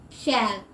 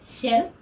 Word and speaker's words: shall: land f again right and a land length shall s h a l l don't say shell but share if it's a shell it sounds